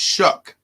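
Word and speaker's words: Shough: a unique spelling Charlie it's spelled s h o u g h yeah and it's pronounced shuck I don't know what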